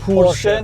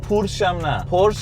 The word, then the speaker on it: Porsche: They have to say Pursche Not Porsh-uh Not Pursh And definitely not Porsh Pursche Do Germans say "Pursche"?